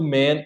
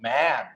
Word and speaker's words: man: Para pronunciar corretamente, o singular, que é o A mesmo, né, o man, você tem que abrir a boca, sorrir. Você tem que realmente fazer como se você fosse sorrir. Man.